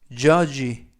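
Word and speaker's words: judge: 뜻은 모서리 라는 뜻이고요 죄인은 쥐 유는 어 그리고 d 는 묵음 이고요 쥐는 쥐 맨 끝에 있는 모금 그래서 져야지 줘야지 라고 발음합니다 뜻은 판사 라는 뜻이고요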